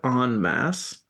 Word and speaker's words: en masse: Because you used en masse in the proper French pronunciation. You said en masse.